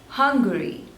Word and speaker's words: Hungary: sleebels guinea Guinea Guinea this one is hung Guri Hungary not hungry Hungary Hungary Hungary two